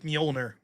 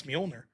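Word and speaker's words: Mjölnir: El Storm 10 bucks says, "This Friday after work, beer hitting my hand like Mjolnir." I'm impressed I knew how to pronounce Mjolnir.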